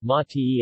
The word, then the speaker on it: mate: Argentina is an infusion called mate in Spanish mate with the accent on the first syllable mati eh the name comes from